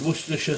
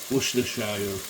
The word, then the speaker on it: Worcestershire: Liam Perrin's Worcestershire sauce. Yes, that is the correct way to say it, Worcestershire.